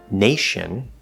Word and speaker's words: nation: not there at all we have words like nation where it is an sh sound it's not tin or natin or something like that it's in similarly